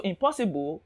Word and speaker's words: impossible: then we have impossible impossible ends in ibl e and anytime you see a word ending in ible the stress will be the syllable before ible the syllable before ible so impossible pulse will be stressed remarkable any type of